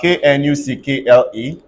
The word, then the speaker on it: knuckle: now look at this whenever KN come together Decay has to die so if I have k n u c k l e this won't be clinical